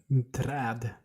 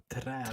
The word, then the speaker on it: träd: Träd. Träd. Träd. We have this a with two dots on top of them, and that goes ah.